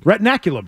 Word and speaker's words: retinaculum: that what it is retin retinaculum sound yes that's the way it's uh pronunciated retinaculum yes retinaculum a torn